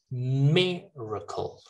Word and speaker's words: miracle: for you miracle miracle now like for this one you might think that it's just like miracle like the stress is in the first syllable miracle okay miracle and then miracle okay miracle